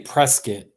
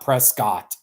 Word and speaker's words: Prescott: Cottonwood Arizona that's my press kit and they call it they say press kit right not Prescott so hate kamikaze by